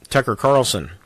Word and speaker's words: Tucker Carlson: But still, I think it was Tucker Carlson. Did I say his name right, Sarah? Yes, you did, Yes, sir. Tucker Carlson that kind of basically said, or it might